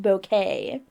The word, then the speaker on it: Bucket: And her name was Bucket, but it's pronounced Bouquet. Or she it was insisting that her last name was uh Bouquet because her name was What was it? Hyacinth? Hyacinth? Hyacinth Bucket.